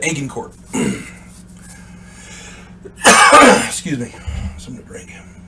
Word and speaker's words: Agincourt: o u r t I've heard it pronounced aen court and aan Court uh I'm going with the aning court excuse me something to